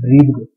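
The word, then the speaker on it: breathe: This is इसका pronunciation होता है ब्रीद, और अगर अकेला बी आर ई ए टी एच होगा तो उसको हम बोलेंगे ब्रेथ।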